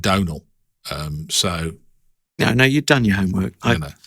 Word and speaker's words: Domhnall: It's either Domhnall or Domhnall. I think I saw him in an interview. He was asked about his name, and Domhnall Gleeson pronounces it Domhnall.